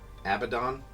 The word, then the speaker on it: Abaddon: bothers you to michelle the first pronunciation jesus guys thank you first one's the right one abaddon or is this kind